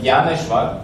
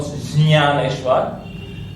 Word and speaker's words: Gyaneshwar: So Gya is special letter, which is made from J, half, plus full Nya. Although for some reason, for example, for me, it's much easier to pronounce it as Gya, like Gyaneshwar, not Gyaneshwar. So, but this is not correct.